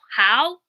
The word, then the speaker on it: Hough: I think the author was named like Lauren Howe. Lauren Ho. It's spelled like though tough. Lauren Huff. It's spelled Hough.